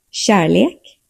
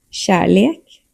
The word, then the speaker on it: kärlek: softens and blends into the surrounding sounds rather than being fully rolled. So it's more flow and less r. Examples: kärlek, förlora. Kärlek, förlora.